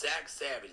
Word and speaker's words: Zach Savage: It's Zach Savage, but it's spelled Z-A-X-A-V-A-G-E.